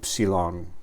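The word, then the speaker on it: ύψιλον: Es como la la u española.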